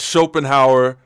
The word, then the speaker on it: Schopenhauer: It's not my fault that Schopenhauer rhymes with golden hour, gang.